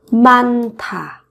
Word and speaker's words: 많다: 많다 các bạn nối phụ âm sau này lên phát âm thành âm thở. 많다.